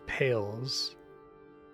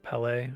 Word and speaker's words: Palais: You pronounce the last word as pales. Oh, Polly. Oh. Ballet. Palais. Okay. I've been saying it wrong then too.